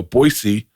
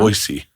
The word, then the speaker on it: Boise: Boisey, Idaho. That's how you're supposed to say that. Do you know that? No, I have. Boyisey.